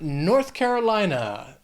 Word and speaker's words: North Carolina: Then we have North Carolina. This state has 5 syllables, but Carolina, the stress is going to be on the third syllable in that word. Carolina, Carolina, North Carolina, another state with a more distinct accent.